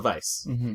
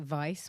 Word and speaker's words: Weisz: her name is Rachel Vice I've heard her say her name is Rachel Vice one time I changed my name because um I pronounce it Vice my dad pronounces advice